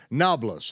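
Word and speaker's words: Nablus: is modern day noblis why it's called noblis is because the Arabs can't pronounce a p it's really neopolis but they can't pronounce neopolis so they say nablas okay it is the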